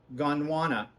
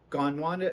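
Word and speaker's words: Gondwana: to ask what's it called it is called gone wanna by Oasis Fabrics gone Wanda is spelled g-o-n-d-w-a-n-a there are others in this line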